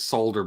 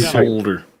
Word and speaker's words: solder: if you didn't pronounce why is there an L in there because it's silent it's like the K and knocked like the you in color okay well that's because